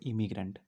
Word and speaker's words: immigrant: एमिग्रेंट की spelling होती है EMIGRANT। इसमें सिर्फ एक ही एम होता है, इसको पढ़ते हैं एमिग्रेंट। और इसकी स्पेलिंग होती है IMMIGRANT। इसमें डबल एम होता है, इसको पढ़ते हैं इमिग्रेंट।